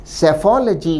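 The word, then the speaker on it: psephology: इस शब्द में पहला लेटर पी साइलेंट रहता है।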